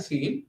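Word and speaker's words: ceil: really like instead of floor we have a seal function IL so what is the result of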